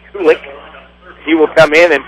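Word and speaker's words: Kulich: Kulik is spelled K-U-L-I-C-H, I believe, and it's pronounced Kulik.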